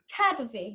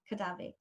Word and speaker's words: Kadavy: Where's the accent? Tell me, say it again. Kadavy. Kadavy, not Kadavy. Sorry. Kadavy.